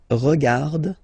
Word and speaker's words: regarde: regardons, vous regardez, il regarde, elle regarde. Okay, so one more time here. Regarde, regarde, regarde, and then regarde. So phonetically, only one form here, and then regardons, regardez.